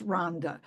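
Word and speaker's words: Rwanda: um and in Rhonda it's spelled Rowanda but pronounced Ronda uh there's so many cases where women have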